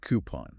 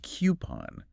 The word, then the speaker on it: coupon: it which one coupon coupon now I've heard people say coupon but something about that has always sounded off to me you're right it's not coupon it's coupon coupon okay